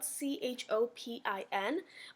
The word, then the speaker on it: Chopin: week is Frederic Chopin it's spelled ch OPI N but it's not Chopin it Shilpa because it's French Chopin was born in